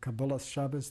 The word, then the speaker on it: Kabbalas Shabbos: Kabbalat Shabbat or Kabbalat Shabbos, depending on which particular pronunciation of Hebrew you prefer, is the welcoming of the Sabbath.